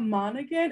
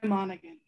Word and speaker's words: Monaghan: So welcome, Monaghan. Thank you, Maria. It's the G is silent.